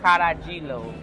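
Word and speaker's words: carajillo: I assume maybe it was Spanish, because in Spanish they don't pronounce the J. The J is pronounced almost like an H, but it's Caragilo is what he said this is.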